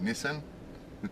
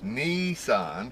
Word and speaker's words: Nissan: It's not Nissan. It's not Nissan. It's Nissan, because the I is pronounced E, isn't it?